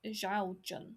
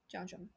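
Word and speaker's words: 肖战: I I I always said Xiao Xiao Zhan Xiao Zhan. But is that Xiao Zhan? Xiao Zhan.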